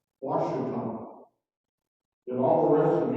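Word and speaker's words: Ouachita: But do any of you know how to pronounce this word, O-U-A-C-H-I-T-A? Correct. Washington.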